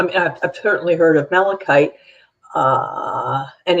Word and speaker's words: malachite: could uh i don't even know how to pronounce that malchite mel malachite yeah thank you mala type poisoning be detected